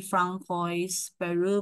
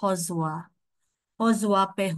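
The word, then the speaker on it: François Perroux: you can you can I know you can always say Francois Peru, but it's supposed to be pronounced Hozua Pehu.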